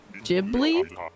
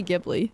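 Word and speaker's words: Ghibli: Heron oh it's unfortunately jibbly it's clearly pronounced jibbly isn't that what I'm saying I'm confused I'm pretty sure it's jibi I know people say gibli but I think it's jibli I don't know I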